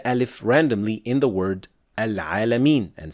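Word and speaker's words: العالمين: Another thing that is usually mispronounced here is adding imala to the end of the word and say Rabbil Alameen, while it should be Rabbil Alameen. So, Al-Alameen, not Al-Alameen. These are two different sounds.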